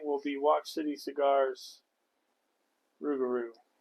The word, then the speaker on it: Rouxgar: be watch City Cigars rugaru I do believe that's how you pronounce that yes R's R the only the only other outlining difference is that the Corel and is from 2023 and the rugaru is is uh I